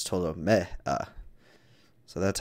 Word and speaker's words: Ptolomea: it up the um because i kept saying ptolemia but that's very american of me um when